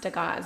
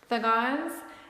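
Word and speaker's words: Dagaz: the rune card is it looks like it's pronounced de gauze but it's actually pronounced the gods and basically it's dawn in daylight it's like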